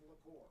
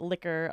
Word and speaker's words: LaCour: Your last name is pronounced Liqueur. You got it. Yep. Did you feel like we were gonna say liqueurs, Like like the beer, like a beer, liqueurs, Coors beer, or I get liquor a lot. Liquor, yeah. Liqueur. It's a Liqueur.